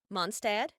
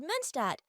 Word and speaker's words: Mondstadt: My mother told me that you recently moved in with your family from Mondstadt. That is nearly correct. It's called Münstadt, but it's practically the same pronunciation.